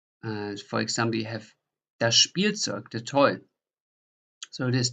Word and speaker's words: Spielzeug: So you pronounce like a SCH and then a P in addition. For example, you have das Spielzeug, the toy.